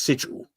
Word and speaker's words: sigil: ysdc um says is the the word is sigil yeah and the correct word is sigil to